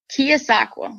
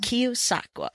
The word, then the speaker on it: Keosauqua: you're in you're in Iowa how do you pronounce the name of the town you're in kosaka kosaka okay what part of the state is that